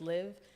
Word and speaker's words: LIVt: So the T is silent in my name, so it's Liv.